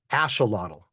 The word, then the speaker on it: axolotl: Lot ashelottle.